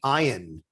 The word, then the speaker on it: Ian: for my entire life they think it's ian and i have no problem with it i don't take it personally i understand that's been the more acceptable pronunciation but my parents didn't name me iron they named me after